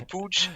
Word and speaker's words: Puig: I take boots you pronounce and right Ricki pooch yeah candolyn yeah my Catalan is not the best but then it's Ricky pooch yeah let's call him Ricky I think he